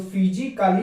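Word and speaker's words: physically: तो उसी प्रकार दूसरा अगर देखा जाए तो फिजिकली पढ़ा जाता है, लेकिन ए यहाँ पर साइलेंट है क्योंकि ए एल के पहले ए आ रहा है, इसीलिए यहाँ पर ए साइलेंट है।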